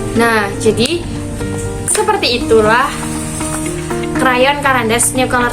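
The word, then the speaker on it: Caran d'Ache: Tapi tulisannya dia itu carandaja. Bacanya karandas.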